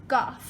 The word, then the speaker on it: calf: वाला हिस्सा घुटनों का, उसको हम कहते हैं काफ, CALF, लेकिन इसमें हम L को नहीं बोलते, लेकिन स्पेलिंग यही है।